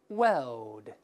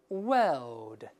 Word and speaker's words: World: 式发音，这个世界 World World L L 它是没有卷舌